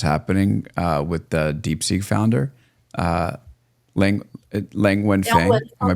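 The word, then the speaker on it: Liang Wenfeng: to see what's happening with the DeepSeek founder, Lang Wenfeng. Am I pronouncing Yeah, it?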